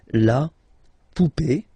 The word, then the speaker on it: poupée: Remember, this final e is not pronounced, so you will have this e. Remember, accent aigu, it's e sound, okay? La poupée, the doll.